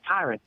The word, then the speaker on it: Tyron: His name's Tyron.